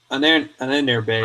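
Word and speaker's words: Ahnenerbe: That's it's Ananerbe. Ananerbe. That's I've been saying it wrong, and I apologize to the fucking Spurgs, the fucking chat who don't fucking listen. That's how I say it. It's Ananerbe, okay? That's how it's said.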